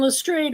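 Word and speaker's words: Lestrade: And it's Lstrade, not Lstrad because Doyle's granddaughter said, "Oh, no." He always pronounced it lrade just like it's spelled actually.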